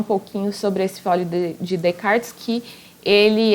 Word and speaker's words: Descartes: ele primeiro eu não como é o nome francês a gente não pronuncia o s no que aparece no meio então não é Descartes é Descartes mesmo que a gente pronuncia tá e o que